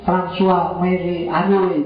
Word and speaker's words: François Marie Arouet: Nama aslinya François Marie Arouet. Bacanya gitu. Makanya kamu belajar Perancis dikit-dikit. Atau ya, yo, kamu ingat kita aja ucapan tuh, nanti diulang ya.